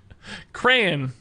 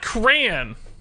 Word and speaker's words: Cran: like it to me it has to be two syllables you say crayon but it's cran it's not crayon you catch insane cran you don't draw with crayons it's got to have